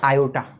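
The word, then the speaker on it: iota: और इसको अपने उच्चारण में या इसका प्रोनाउंसिएशन क्या होता है, वो होता है आयोटा।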